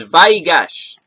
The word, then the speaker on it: Vayigash: and grant you peace I do believe I figured out how to say this it is VY gosh and we're reading luke